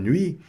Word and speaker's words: nuit: E aqui, só voltando ainda no bonne nuit, nuit aqui também não foi pronunciado a consoante. Então, estão começando a perceber, aqui a consoante T não foi pronunciada. Não é pronunciada.